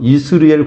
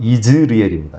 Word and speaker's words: 이즈리엘: 요새 오징어 게임 유명하던데, 오징어 모양이 바로 이스르엘 골짜기. 이스라엘이 아니에요. 원래 발음은 이즈리엘입니다.